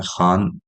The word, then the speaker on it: Kaan: rename करके इसको कान का नाम दे दिया गया है जो टर्किश में शायद इस तरह से कान प्रोनाउंस होता है लेकिन हमारे साउथ एशिया में खान बोला बोलते हैं इसको तो इसलिए शायद प्रोनंसिएशन